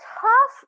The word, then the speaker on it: half: make this mistake man but half is just crazy so you just need to remember that that L will be silent here I'll take half and